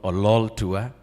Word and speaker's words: Ololtua: We'd like to thank in absentia our CS, Rebecca Miano, and PS, John Ololtua. That's how you pronounce his name. The next time you see him, make sure you pull the lol, Ololtua.